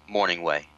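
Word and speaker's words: Mornhinweg: know his name is morning way the g is silent okay why morning way uh you're right he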